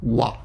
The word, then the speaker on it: は: hiragana h a but when it's the topic marker it's pronounced wah and the adjective today